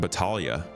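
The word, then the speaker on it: Battaglia: Captured new content for Reco, but somebody said it's pronounced Batalia, like the G is silent, who will be returning to Levski.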